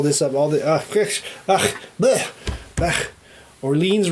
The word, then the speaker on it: Orléans: up all the ah orleans rhymes with jolene right okay on the